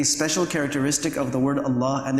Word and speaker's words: Allah: characteristic of the word Allah, and there is no other lam like this in the Arabic language, we are actually required